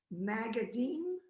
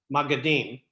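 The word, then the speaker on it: maggidim: the middle ages there were traveling storytelling creatures magadim am i pronouncing i don't m-a-g-g-i-d-i-m magodine yeah i've never heard of them so these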